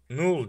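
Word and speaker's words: Knull: Null diye okunuyor galiba. Öyle gördüm. Null diye okunuyor. Gerçek okunuşu böyle.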